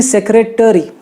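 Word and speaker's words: secretary: Actually it should be सेक्रेटरी, ट complete है उसका, ट्री नहीं कर देना है उसको, टरी कहना है। सेक्रेटरी, सेक्रेटरी, क्योंकि उसका जो ए है वो साइलेंट नहीं है, इट्स सेक्रेटरी, ओके।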